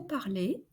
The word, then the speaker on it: parlez: And the EZ at the end of vous parlez is pronounced like et.